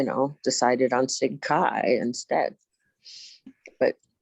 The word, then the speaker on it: CHI: of you it's like so many people don't know that Kai is pronounced Kai right like you have to